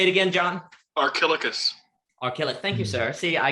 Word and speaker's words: Archilochus: on a fragment from, and I can never pronounce the poet's name, if someone wants to, this fragment. Say it again, John. Archilochus.